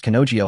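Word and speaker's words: 彼女: In Japanese, he and she do not have the same pronunciation. One is care, and the other is kanojio.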